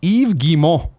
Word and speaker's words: Yves Guillemot: Yves Guillemot is pronounced Yves Guillemot, or alternatively, Guillemot. There's no S sound on Yves, no I sound, T sound, or nasal N sound in Guillemot.